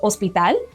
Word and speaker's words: hospital: Have you ever heard of hospital? Yep, that's right. It starts with a silent H.